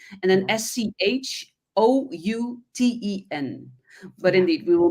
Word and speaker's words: Schouten: Schouten.